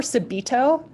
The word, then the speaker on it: subito: piano have you ever heard that word before subido yeah it's spelled SU be I tio and what that